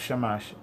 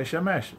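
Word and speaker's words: שמש: a, you'll always have shamash. How do you say son? You have to say shemesh, because that's how they say son in Hebrew.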